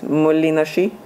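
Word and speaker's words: Moholy-Nagy: His name is very hard to pronounce. I think it's Molinashi, a well-known Bauhaus artist and most of his photogrammic works are from the 30s.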